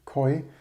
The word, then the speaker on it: QOI: Continuing yesterday's, I think they actually want to, I should have mentioned it yesterday, I forgot to mention, I think they want to pronounce it koi.